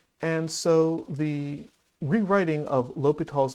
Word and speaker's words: L'Hôpital: not the norm and so the rewriting of lal's name in English language very often is written